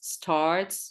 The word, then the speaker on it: starts: Okay, breakfast starts, take care to pronounce the S, starts, Spain, student, no S, student starts at 7 a.m.